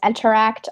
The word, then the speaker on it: nteract: working on you mentioned that you're working on interact right now mm-hmm so its main one that I'm working on is interact it's spelled NT er a CT we're on github